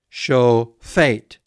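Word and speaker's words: שֹׁפֵט: So it's sho. Then a pei with no dagesh linne, so it's pronounced like f. And then a sere, e, and a tet, t. Sho fate. Show fate.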